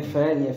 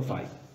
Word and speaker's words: Faye: Nie wiem, czy wspominałem, ale wymowa nazwiska Faye. Nie Faye, tylko Faye.